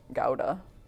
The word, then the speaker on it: Gouda: i know dude buddha gouda gouda apparently is the right way to say it you get yelled at if you go to the cheese lady and you say gouda they're like uh what